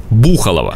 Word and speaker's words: Бухалово: здесь хотя бы проездом кстати как бы ни хотелось название произнести с ударением на второй слог правильно все таки на 1 версий происхождения такого названия